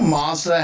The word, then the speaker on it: Mazda: You know how Mazda has those commercials with the kid whispering zoom zoom? Well, a while back I learned that in Canada they pronounce it Mazda.